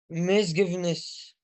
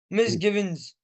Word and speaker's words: misgivings: Misgiveness. you haven't Okay. said it correctly. Misgivings. Very easy to pronounce or very easy to say.